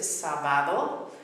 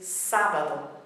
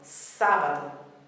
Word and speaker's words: sábado: We would be tempted to think, and a lot of people mispronounce it sábado, but there's an accent on the appropriate syllable, which is actually breaking this rule. So the syllable is, the pronunciation is sábado, sábado.